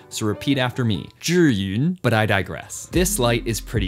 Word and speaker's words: Zhiyun: to my Hong Kong upbringing if I didn't pronounce it correctly, so repeat after me. Zhiyun, but I digress.